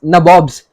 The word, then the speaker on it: nabob: the british themselves became nawabs but these nawabs were in england they were referred to as which was an anglicized pronunciation of the word nawab and these nabobs as we as they